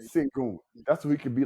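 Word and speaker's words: Şengün: Alon sangu s s no singon that's how you pronounce it singon that's who he could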